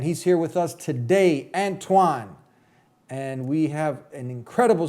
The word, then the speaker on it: Antoine: Antoine, but how do you pronounce it? Antoine. Antoine.